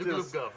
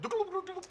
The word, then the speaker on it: Dugalupgov: Aussie, and this last name, Dugalupgov. That's apparently the way to pronounce his name. Correct, Dugalupgov. Right? It's like a turkey almost. Dugalupgov.